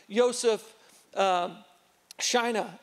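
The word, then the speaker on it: Józef Szajna: There's a guy by the name of Joseph Schina, and that's how his name is pronounced.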